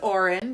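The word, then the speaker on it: Odhran: pretend it makes sense and we pronounce it Oren because we looked it up and we love a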